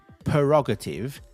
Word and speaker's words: prerogative: p r e r o g a t i v e. It's not prerogative, it's prerogative. Prerogative.